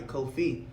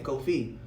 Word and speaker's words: Kofi: It's a Ghanaian name for a boy that's born on a Friday, Kofi. So my name is just an anglicized name of saying Kofi, cause the slave drivers used to mispronounce my name.